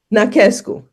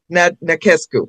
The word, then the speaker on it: Nachescu: And how do you pronounce your last name? Nescu. Nescu.